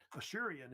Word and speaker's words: Assyrian: And by the way, they also say Ashurian, if you know about that. Ashurian is how they actually usually say it in the Middle East.